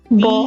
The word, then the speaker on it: beau: then in that case, please bear in mind that the word, especially that part of the word, will be pronounced as O, round O. For example, BEAU. Bo.